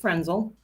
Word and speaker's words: Frentzel: Who is Colleen Frentzel? Hi. Good morning, Colleen Frentzel. The T is silent, so I pronounce it Frentzel.